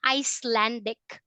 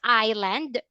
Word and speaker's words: island: word correctly this is Island right because commonly some of my Vietnamese friend or student tend to pronounce this as Iceland okay that is a different one this one is Island silent s Island because if you are